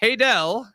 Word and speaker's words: Haydel: Megan Ashley that will be here also haydel did I pronounce that right yes you did yeah he's